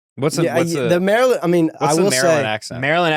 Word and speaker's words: Maryland: do you say Maryland is it Maryland hold on let me get into it oh damn we're going down to Maryland Maryland some people go Merlin some people say Maryland